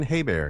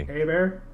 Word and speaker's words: Hebert: um Kyle hbert right haybert Hebert not even close bear no no no not even a not even hay bear it's h is silent E is like an a a bear a bear a bear